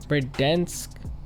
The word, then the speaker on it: Verdansk: over the map of verdansk dense is how you say it anyways uh clearly you